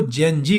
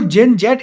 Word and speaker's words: Gen Z: और जेन जी को जेन जेट इसलिए हम लोग प्रोनाउंस नहीं करते इंडियंस, क्योंकि जेन जी शब्द जो है वो अमेरिकन वर्ड है, वहां पे जेड को जी बुलाया जाता है।